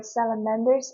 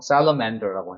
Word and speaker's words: salamander: This lake is a major habitat for salamanders in Canada.